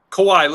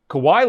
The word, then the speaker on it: Kawhi: Boy, Kawawaii, let's say his name, right? Kawhi. Okay. Okay.